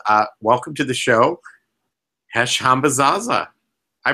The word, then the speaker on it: Hesh Hambazaza: among other things uh welcome to the show hash hamba Zaza I pronounced that right correct yeah you got it